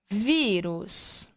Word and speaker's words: vírus: Então, nós temos aqui vírus. Sílaba mais forte, vi.